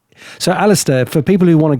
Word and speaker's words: Alasdair: Do you just want to spell it out just so people can Okay. Well, Alistister, it's a L A S D A I